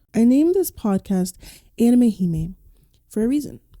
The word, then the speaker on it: hime: named this podcast anime hee for a reason he is spelled h i m e that is the word in Japanese that translates to Princess and the reason for